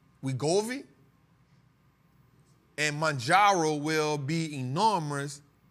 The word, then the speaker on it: Wegovy: How you pronounce that, B? Wegovy.